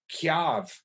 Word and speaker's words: tyave: that loves the dialect, we tend to say here, chav, as if it was K-Y, rather than T-Y, and pronounce the Y mayor.